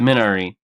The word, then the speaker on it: Minari: how you pronounce it in the movie they pronounce it minari oh I know ien